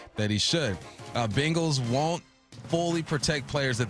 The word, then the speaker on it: Bengals: I swear to God you said bingles. Bengals.